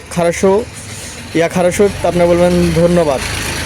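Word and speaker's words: Хорошо: আমি ভালো আছি, তবে সে যদি বলে ভালো আছি, তার রাশিয়ান হবে খারাশো, ইয়া খারাশো। ইয়া খারাশো শব্দের অর্থ হচ্ছে আমি ভালো আছি, ধন্যবাদ। আপনি বলতে পারেন ধন্যবাদ, তার কথার যখন বলবে সে খারাশো, ইয়া খারাশো, আপনি বলবেন ধন্যবাদ।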